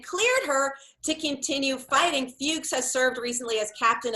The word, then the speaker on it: Fuchs: it's next level, and believe me, I did a deep dive to make sure I was pronouncing her name correctly. I checked multiple sources. It's F-U-C-H-S.